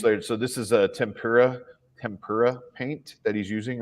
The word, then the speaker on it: tempura: me for the Tim how do you say it tempera oh it's not a kind of a fish apparently it's tempura tempra I don't know